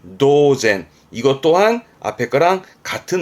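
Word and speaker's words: 当然: 마찬가지로 많이 있습니다 그리고요 뒷글자는 연 당연의 연 자죠 발음은 노젠 도젠 이것 또한 앞에 거랑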